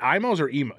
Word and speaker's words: Imo's: mean there's emo uh is it imos there's a joke that no one knows no pronounce it we call it Imus but but honestly you